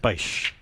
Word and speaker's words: Baisch: It's pronounced Baisch.